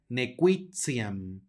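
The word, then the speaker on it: nequitiam: la e la Perdón la t va a sonar como ts por lo tanto la palabra se pronuncia nequixian más adelante tenemos otro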